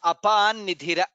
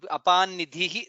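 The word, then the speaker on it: अपां निधिः: Here, apam nidhira. Therefore, it becomes apan nidhira. Apan nidhira. Apam nidhihi. That's how it. Apan nidhihi. That's how it becomes.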